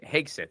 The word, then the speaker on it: Hegseth: He I think Hegsith, that's how you say it.